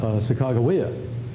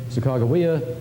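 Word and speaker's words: Sacagawea: uh sagaa uh the the journalists incidentally always spelled it with a G not with a J so it's reasonable to assume that they always said the third syllable with a hard G Saka um and uh here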